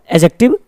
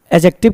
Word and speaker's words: adjective: गलती से भी इसे आप एडजेक्टिव नहीं बोलेंगे, एडजेक्टिव, क्योंकि जब भी आपका डी और जे रहता है वहां पे हमेशा हमारा डी क्या होता है? साइलेंट होता है. तो क्या बोलेंगे? एडजेक्टिव, नॉट एडजेक्टिव.